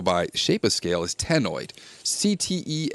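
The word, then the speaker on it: ctenoid: shape of scale is Teno CT n o i d the C is silent like in nideria Teno scales the scales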